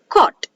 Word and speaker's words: caught: and h comes together here g the both the g and h are silent so they are called silent g h words so now we are for example caught so when while reading